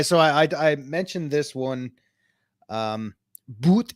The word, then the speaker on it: Boot: Boot is pronounced boat.